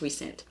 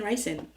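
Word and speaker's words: Rhysand: and then rice and he's his name is pronounced recent recent because I got the audiobook and the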